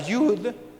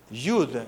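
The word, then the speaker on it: יוד: un poquito más grande esa letra en hebreo se llama Jude se escribe J ud y se pronuncia como y o como y o como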